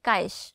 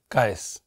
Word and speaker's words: কায়েস: এবং অদ্বিতীয়া আপনার নামটা কিভাবে উচ্চারণ করেন কায়েস নাকি কায়েশ কায়েস দন্তস্য ও আপনার নামের বানান দেখলাম